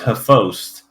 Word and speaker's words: XBOCT: You're not gonna guess how you pronounce this one. Chibok. They pronounce it Hephost. If it's XBOCT. Shibost?